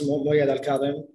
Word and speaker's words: Mouayed Al-Kadem: You pronounce it right. It's Mouayed Al-Kadem.